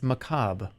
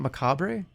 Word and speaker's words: macabre: how you say it how do you say it macabre it's macabre it's not macabre the r is silent it's French did I just okay wait